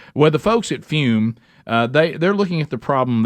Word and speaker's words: Fum: All right, even though it's pronounced fume, it's spelled F-U-M.